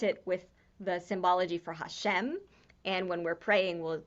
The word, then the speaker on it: HaShem: with this hey and an apostrophe which is pronounced hashem which is the name god is written down